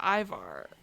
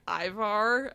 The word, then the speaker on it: Ivar: who goes up to Ivar which I'm obsessed that we are on episode six and people still are pronouncing Ivar as Iva I heard it at